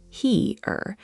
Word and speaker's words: hier: Here is simple, like here in English, but with a slightly longer E sound, he-er.